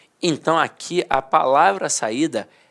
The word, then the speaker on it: saída: Agora aqui, se eu tirar o assento, eu não vou falar saída, eu vou falar saida.